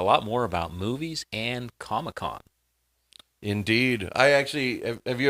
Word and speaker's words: Comic-Con: So, it's the big thing is San Diego Comic Con, but they pronounce it ComicCon, like it's one word.